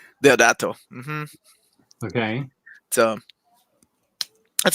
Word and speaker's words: Deodato: So it's Mike Deodato Jr. That's Italian. My bad. That was with an Italian accent. Deodato? Deodato.